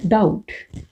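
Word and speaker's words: doubt: ये वॉवल से अगर डिफ्थोंग होता है, फॉर एग्जांपल ये हमारा वर्ड है डाउट। अब डाउट में बी हमारा साइलेंट है, टी के लिए डी को हमने हाफ करना है।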